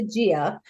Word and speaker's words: Gia: you really tell us your name I've always pronounced a Gia my grandfather was jako Jomo oh Italian yeah